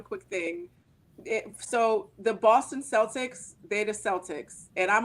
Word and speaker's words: Celtic: of the word was originally pronounced that like a hard C like kite and Kilt Celtic okay okay go ahead